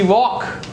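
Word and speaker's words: walk: પછી વોક અને યોક.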